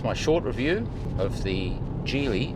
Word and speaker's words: Geely: I only had it for less than a day, but that's my short review of the Gely. And it is a soft G like that. J EX5.